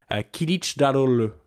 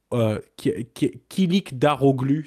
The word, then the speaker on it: Kılıçdaroğlu: à prononcer son nom, c'est monsieur Kemal Kılıçdaroğlu. comme on le prononce en turc, ou Kilik Daroglu, si tu voulais que je le lise, évidemment.